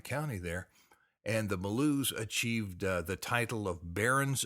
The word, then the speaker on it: Bellew: of the day today it's blue like i was talking and you can spell it almost like bellows sometimes or b-e-l-l-o-w that'd be almost like below but b-e-l-l-e-w is probably